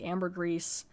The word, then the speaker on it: ambergris: original story it did Amber gree can also be pronounced other ways I think Amber grease gray Amber it's got a